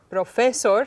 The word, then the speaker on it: profesor: Profesor sounds funny. y profesor. Profesor. And you're good enough now that you can recognize profesor, Muy with bien. stress at the end, is the correct way to pronounce it.